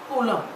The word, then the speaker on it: coulomb: Okay, Coulomb. B is silent, coulomb.